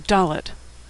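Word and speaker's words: דלת: the hebrew alphabet is dalit it makes the sound of d as in door in fact the word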